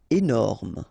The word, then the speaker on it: énorme: Énorme. Final E not pronounced, énorme.